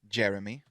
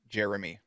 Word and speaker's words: Jeremy: say it pronounce like they say it correctly Jeremy Jeremy three syllables meat Jeremy and somehow